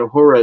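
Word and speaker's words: Ho99o9: or so and um this band hor like they actually spell their name H I mean it's it's hor like ho o r r o r but the way that they spell it is ho9909 oh NE yeah yeah yeah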